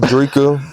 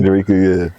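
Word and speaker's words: Dreka: I see Kevin Gay got divorced from his wife, Draa. Draa, if I'm saying it correctly, Dera.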